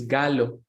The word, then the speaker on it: Gallo: English so and my last name it's from Italy but I am not Italian I am Colombian and the pronunciation is gallo so you say